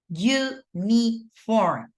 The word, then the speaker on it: uniform: Uniform, right? It starts the pronunciation with a Y.